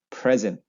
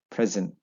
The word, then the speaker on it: present: They would say present. Present. Present. Present. Right? I'm going to give you a present. Present. But if it is a verb, they would say present. The second syllable stress.